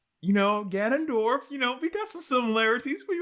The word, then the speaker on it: Ganondorf: Did I pronounce his name right? Ganondorf, yeah.